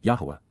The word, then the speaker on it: Yahowah: a melodic and rhythmic manner, to, La, for, Yahowah, the proper pronunciation of the name of Eloah, God as